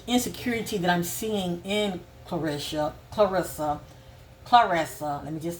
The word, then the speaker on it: Claressa: It's very sad to me for her, because the insecurity that I'm seeing in Clarissa, let me just say that. I think it's spelled Clarissa, pronounced Clarissa.